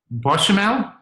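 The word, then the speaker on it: béchamel: Bakmel? Bechamel?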